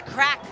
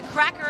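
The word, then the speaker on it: craic: there we go oh if you hear someone saying what's the crack or it's a cracker of a day crack don't call the Poli don't call don't call the Garda it's c r a i c it's it's like how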